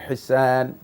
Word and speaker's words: হিসান: দুইটি কেরাত রয়েছে এর মধ্যে মুতাওয়াতের কেরাত হচ্ছে হিসান হা সিন আলিফ নুন হেসান এটা আপনার উচ্চারণ গুলো সঠিক হয়নি বাকি আপনি ব্লেম করে